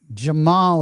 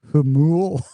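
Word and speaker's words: Jamul: Jamal is pronounced Hamul.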